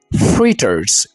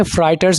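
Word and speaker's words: fritters: पकोड़े भी आप बहुत ज़्यादा शौक से खाते हैं, फ्रीटर्स। इसको आपने फ्राइटर्स नहीं बोलना।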